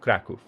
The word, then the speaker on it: Kraków: could take Krakow, or Kraków, sorry. Someone pointed out that this is actually not an ah sound, like it would be in English. This is a oo sound, it's Kraków.